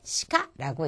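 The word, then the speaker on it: しか: 이 시카를 보시면은요, 카행은 지난 시간에 나왔던 요령인데 단어의 첫음일 때는 카에 가깝게, 그지만 첫음이 아닐 때는 까에 가깝게 발음한다는 말씀 드렸었죠. 그러니까 시카가 아니라 시카 하고 발음한다는 거.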